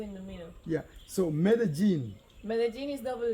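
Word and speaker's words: Medellín: Mede. Not med. It's Mede. Medellin. Jean, no. Okay. Mede. Jean. Medellin.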